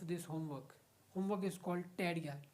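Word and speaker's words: tarea: ए एम आई एल आई A Familia homework टेररिया homework homework O आई am sick of this homework homework is called टेररिया टी ए आर ई ए टेररिया in Spanish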